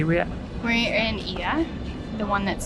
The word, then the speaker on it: Oia: We're in Oia, the one that's spelled O-I-A, it's pronounced Oia, and it's the one with the most quintessential views.